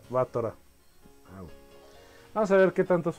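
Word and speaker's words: Battler: Se pronuncia Batra.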